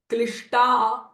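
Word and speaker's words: क्लिष्ट: So instead of saying a klishtaha, that klishta you will elongate for a little further. Klishta klishtaha. And this S with a dot underneath is a retroflex sh sound.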